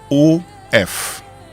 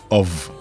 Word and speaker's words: of: O F of of of of of it's pronounced of okay not of so instead of saying it is off and saying it's off as we do